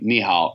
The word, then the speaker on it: ni hao: As anyone that's been in China knows, the hardest part to say ni hao is, that's spelled N-I and then H-A-O. But you have to say the hao like you're kind of going down a mountain and then back up it.